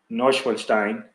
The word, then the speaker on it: Neuschwanstein: brutally attacking 2 American women near Germany's famed Neuschwanstein castle, that's how you pronounce it, last summer, and pushing them into